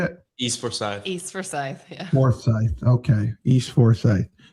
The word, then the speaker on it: Forsyth: East Forsyth, yeah.